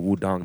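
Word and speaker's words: Wudang: And then we went to Wu-Tang Mountain, or Wudong Mountain, pronounced Wu-Tang by the British.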